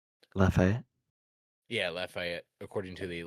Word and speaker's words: Lafayette: The victims include 3 seniors from Ascension Episcopal School in, dude, I don't know how to pronounce that name. Lafayette.